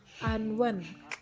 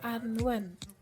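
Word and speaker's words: 安汶: Jadi cara bacanya yaitu Anwen. Sekali lagi, Anwen. Aku ulangi sekali lagi, Anwen.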